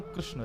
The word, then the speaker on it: कृष्ण: ऐसा एनालाइज है कि कृष्ण शब्द का उच्चारण अधिकतर लोग अशुद्ध करते लोग या तो किशन बोलते हैं या कृष्ण बोलते हैं मतलब जो भी बोलते